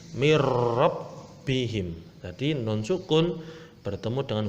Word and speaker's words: min rabbihim: Cara membacanya harus dimasukkan tanpa mendengung. Jadi langsung masuk. Contoh, mirrabbihim. Nah, langsung masuk, tidak boleh itu tidak boleh, itu salah, langsung masuk tanpa mendengung. Mirrabbihim.